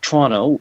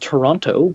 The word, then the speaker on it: Toronto: a Toronto-Montreal leg, which Toronto is, excuse my pronunciation of that, it's correctly pronounced Toronto, but because where I'm Toronto. from, and we pronounce it Toronto with a CH and no second T.